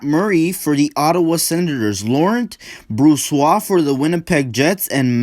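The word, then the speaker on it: Laurent Brossoit: for this game is laurent broswar i think is that's how you pronounce it and matt murray for the ottawa senators laurent bruce wa for the winnipeg jets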